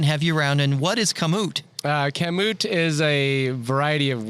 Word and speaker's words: Kamut: Kamut, right?